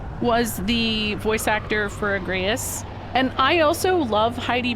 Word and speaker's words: Agrias: That is how you are supposed to pronounce her name. It is Agrias. And so her name is the same as a butterfly.